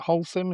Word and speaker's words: Holcim: stats that's on your site, and at Holcim, is it Holcim? Is that how you pronounce it?